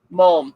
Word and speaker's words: mulm: That's a hard word to phonetically make out, I feel like. What word? Mulm.